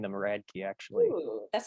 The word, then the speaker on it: Radtke: So it's pronounced Radtke. So you're like describing a key that is radical. That is radical. Radtke.